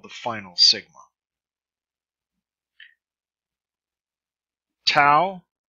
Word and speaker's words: sigma: Sigma, S as in set.